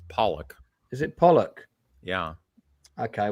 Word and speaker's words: Pollack: It's got to be a Sidney Pollack film, right? And Lance, why are you saying his name like that? It's Pollock.